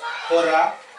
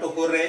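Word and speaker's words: hurrah: The interjection that expresses joy is hurra, H-U-R-R-A-H. It is hurra only, not hooray.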